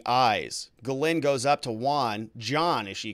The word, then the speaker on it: Juan: epstein's housekeeper says well she called me john mr epstein called me john but my name is juan jerks 12 years got